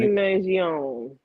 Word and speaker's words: Mangione: Luigi Mangione.